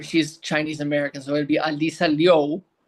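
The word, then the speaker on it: Alysa Liu: medalist figure skater Alyssa Louu or she's Chinese American so it' Alisa Leo, that's how you pronounce her name.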